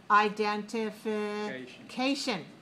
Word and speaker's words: identification: Identification. Right. Do you have your identification card? Yes. Yes. Identification. I need another hand. Right? So that's 6 syllables. 6 syllables. Identification.